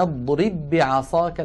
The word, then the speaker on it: اضرب بعصاك: اضرب آخرها باء ساكنة، بعصاك أولها باء متحركة، فهنا لابد من إدغام الباء الأولى في الثانية، ويكون النطق بباء واحدة مشددة، نطبق الشفتين على الباء الأولى ونفتحهما على الباء الثانية هكذا.